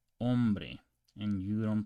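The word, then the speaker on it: hombre: can you canoso okay the H is silent in Spanish okay so you don't pronounce this as inbre you pronounce ombre and you don't pronounce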